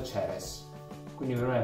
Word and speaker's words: Ceres: In inglese Cerere si pronuncia Ceres, quindi per me è molto più facile immaginarmi la birra, quella Ceres, Cerere.